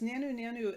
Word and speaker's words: Nanu nanu: your fat ship and they pronounces nano nano a bit differently it's like na nu na nu i think sometimes it's